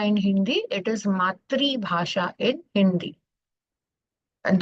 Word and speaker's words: मातृभाषा: Coming to Laksha Bhasha and Matri Bhasha. So we don't call it Matru Bhasha in Hindi, it is Matri Bhasha in Hindi. And though it's written as Matru Bhasha, it is pronounced as Matri Bhasha.